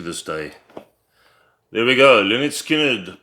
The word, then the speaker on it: Lynyrd Skynyrd: There we go, LYNYRD SKYNYRD, pronounced LYNYRD SKYNYRD.